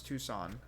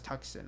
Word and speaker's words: Tucson: period tucon oh period I actually think I only recently learned how to pronounce Tucson I used to think I didn't realize that's how Tucson was spelled so every time I saw it I thought that was tuxen I I didn't realize Tucson